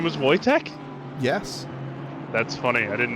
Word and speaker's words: Wojtek: ammunition rounds that's right yeah his name was voytek yes that's funny I didn't know that the more you know I don't know if it was spelled like that but it wasn't I also spelled it wrong w-o-j-t-e-k well I don't actually think his name is